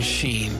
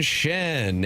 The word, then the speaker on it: Schenn: coming for the C you can't say Braden Sheen just because it rhymes with something else but you can say Braden Shen and per Elliot fredman